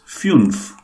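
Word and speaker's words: fünf: A little pronunciation correction. It is null. Null, yeah. Yeah. And it is Funf.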